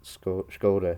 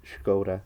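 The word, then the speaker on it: Škoda: So, my little brief nerd off about SCOD. I should Sorry. Sorry if she's watching this. Skod. I'll say it correctly.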